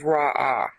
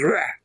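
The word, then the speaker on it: רע: Now, the last time we went through Isaiah 45 here in episode 4, I pronounced this as Ra'ah. That's a resh and an ayin, and really the right pronunciation is Reh.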